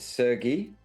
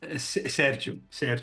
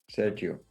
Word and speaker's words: Sergiu: Is it Sergei? Is that how you pronounce it? Sergiu. It's Sergiu. Romanian, but also Portuguese.